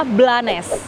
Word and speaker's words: Blanes: Sekarang aku udah ada di kota namanya Blanes. Jadi bacanya 100% Blanes ya, Guys. Bukan Blends. Kemarin aku sempat baca Blend, ternyata bacanya Blanes.